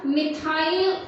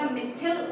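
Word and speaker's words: methyl: हाँ, आप लोग सोच रहे हो कि मैम मिथाइल ऑरेंज नहीं होता, मिथिल ऑरेंज होता है। फाइन, प्रोनाउंसिएशन का कोई इशू नहीं है, हम मिथाइल, और भाई हमने मिथाइल ऑरेंज पढ़ा है शुरू से, इसलिए मिथाइल ऑरेंज ही बोलते हैं।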